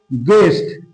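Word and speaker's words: guest: তারপরে আমরা দেখে নেব গেস্ট ইউ এটি গেস্টে কিন্তু আমরা ইউ এর উচ্চারণ পাচ্ছি না।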